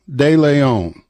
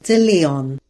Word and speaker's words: De Leon: Deon all right Deon did I pronounce that right sort of De Leon de Leon okay all right